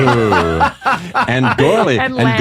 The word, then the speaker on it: Gourley: And gourley. And And lamb. gourley. Is it, how do you say, what's that vowel exactly? Is it Gore. gore? Like Gourley. gore, like Yeah. gore. Gourley. Gourley. Yeah, although when I went